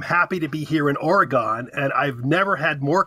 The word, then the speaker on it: Oregon: pronounce it correctly but here on the east coast and in the Central States we all pronounce Oregon Oregon and that drives oregonians crazy and I've heard I